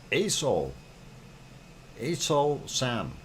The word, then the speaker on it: Aso-san: And let us go over to the other one that is always difficult to pronounce, and it's ASO San.